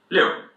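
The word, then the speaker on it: 六: When you see an "i" and "u" you pronounce them as if separately and you put them together so liù A "q" sound is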